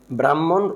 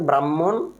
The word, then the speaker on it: ব্রাহ্মণ: ব্রাহ্মণ, কয়েকবার বলেন আমার সাথে, ব্রাহ্মণ, যদি উচ্চারণটা ব্রাহ্মণ, ব্রাহ্মণ রোমান ক্যাথলিক সংবাদ, ব্রাহ্মণ রোমান ক্যাথলিক সংবাদ।